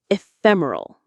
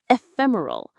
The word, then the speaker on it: ephemeral: Let's look at that beautiful word ephemeral. Ephemeral stress on the second syllable fem.